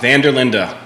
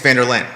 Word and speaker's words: Vanderlinda: of your last name oh vanderlinda vander linda not as it appears because a lot of folks think it's vanderlaan and we'll that's good